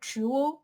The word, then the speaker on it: dual: uk road they said what's a jewel carriageway like a jewelry jewel carriageway it's just the way the british say dual carriageway sounds really funny tuesday